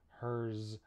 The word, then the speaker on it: hers: So, for example, we have some common words like is, was, hers, and his. These are all spelled with S, but we actually pronounce them with a Z sound in English.